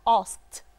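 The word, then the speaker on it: asked: لو انا قلت اي ساوند قبل الاي دي والساوند ده كان فيه فايبريشن هنطقها دي. لو مفيش فايبريشن هنطقها تا. تعال نقول ك ك ك في فايبريشن؟ لا لا دي نطره الهواء. في فايبريشن؟ لا لا يبقى الاي دي هتتحول لتي فهنقولها اسكت.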